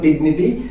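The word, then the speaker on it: dignity: এই জি এর উচ্চারণটা এখানে গয়ের উচ্চারণ দিচ্ছে, যেমন ডিগনিটি কিংবা ডিগনিফাই।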